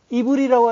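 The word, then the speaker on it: עברי: 히브리어로 하면 아바르예요. 아바르가 지나가다 건너가다. 그렇게 건너간 자를 히브리인이라고 하는 거예요. 히브리. 이브리라고 하죠. 발음은 이브리인데 히브리인이라고 하는 거예요.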